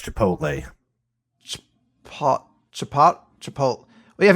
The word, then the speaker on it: chipotle: its Chipotle that sounds pronounced wait what it's pronounced Chipotle hot chapati chapati we have ever had it